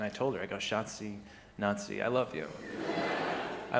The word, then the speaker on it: Schatzi: I call her Schatzi. Schatzi is German for darling. And it's easy to remember because it rhymes with Nazi.